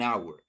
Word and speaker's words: hour: We're going to select an hour. Why an hour? Because here the H is silent.